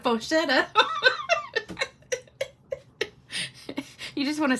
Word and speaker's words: Faux Shutter: So if you just search Faux Shutter, or every time I say that, I want to say Faux Show instead of Faux Shutter.